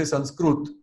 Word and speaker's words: Sanskrit: The way Sanskrit is pronounced in Maharashtra is also very different. Instead of Sanskrit, they say Sanskrut.